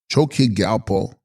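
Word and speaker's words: Chos-kyi rGyal-po: passion of existence text chosi galpo pronounced choki galpo sanskrit dharmaraja these the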